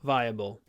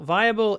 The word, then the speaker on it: viable: I think inviolable is the opposite of viable. Inviable viable inviolable.